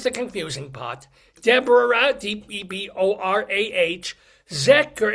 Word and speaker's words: Zecher: DEBORAH, DEBORAH, Zecher is pronounced with a K, but it's spelled like a H.